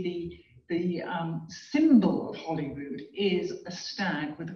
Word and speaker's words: Holyrood: of the holy root so today we would say hollywood sort of rhyming with hollywood but really it's actually come from the holy group it's it's an interesting